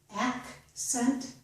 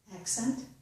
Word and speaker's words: accent: But the first C makes the K sound. Again, accent, accent, succeed, succeed, vaccine, vaccine. So the second S, the second C, is making the S sound.